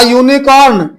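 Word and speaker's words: unicorn: सींग होती है यूनिकॉर्न, लेकिन उच्चारण लिखा तो यू से है पर उच्चारण या का हो गया, इसलिए आ यूनिकॉर्न, या यूनिकॉर्न।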